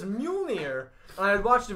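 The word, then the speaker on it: Mjölnir: So they're talking like, oh, yeah, it's Mjolnir, not Mjorn.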